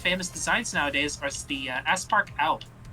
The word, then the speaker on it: Aspark Owl: One of his most famous designs nowadays is the Aspark Owl. How do you spell that?